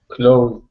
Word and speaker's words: closed: made andres close is closed close all right now when you say that s it's like a z sound close close now you